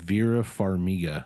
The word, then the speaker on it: Vera Farmiga: Wilson and And- Vera Farmiga, I believe is how you pronounce her name.